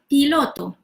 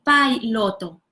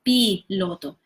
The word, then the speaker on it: piloto: pilot in Spanish so I've seen some people they tend to pronounce this I as in English I so they say buy lotto instead of p lotto so remember that in